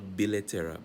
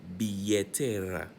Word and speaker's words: billetera: sandalias, sandals, la billetera, remember LL is pronounced as a Y, so la billetera, not billetera, billetera, el reloj, las medias,